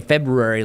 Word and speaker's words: February: See, so see you're saying Febu. I'm saying February like I'm Scooby-Doo. Yeah. You know, I just know that because like um to spell it's like Feb. Ruary. Feb. Ruary. Yeah. See, but then nobody says the R. So then I'm trying to fit in the R.